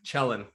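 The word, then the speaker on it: Kjellin: cool it is cool it's KJ l l i n right y yeah KJ L Len yeah n chellin chellin Lan and chellen so um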